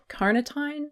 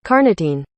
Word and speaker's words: carnitine: So choline and carnitine? That's not right. It's embarrassing how many times I've had to look up how to pronounce this. Carnitine. Carnitine. There ain't no D, bitch.